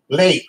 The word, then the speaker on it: Leite: pronounced what the I T what is the pronounce that's like late Oleg's late and late and Portuguese is milk